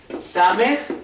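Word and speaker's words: ס: son n n nun same es s a como les menciono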